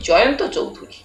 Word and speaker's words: জয়ন্ত চৌধুরী: বেজায় লোভ হচ্ছে বাপ কিন্তু আমার নামটা তুমি ভুল উচ্চারণ করছো আমি জয়ন্ত চৌধুরী বফ বিড়বিড় করে নামটা